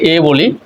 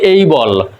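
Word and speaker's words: able: আমরা এ থাকলে এটাকে এ বলি কিন্তু এটা আসলে উচ্চারণ হবে এই যেমন এ বি এল ই আমরা এটাকে বলি এবল কিন্তু এটা উচ্চারণ হবে এই বল ডি এ ওয়াই আমরা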